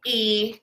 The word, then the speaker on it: y: And then E, it looks like a Y, but it's pronounced E.